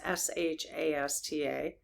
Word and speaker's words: Shasta: Are locations like Mount Shasta, if I'm pronouncing that wrong, they know what I'm talking about. It's Shasta.